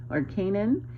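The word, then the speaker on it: Kainan: Well, I was looking into the days of Noah, and his grandson came up, whose name was Canaan, but it's spelled with a K, K-A-I-N-A-N.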